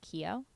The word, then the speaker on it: Keo: Keo.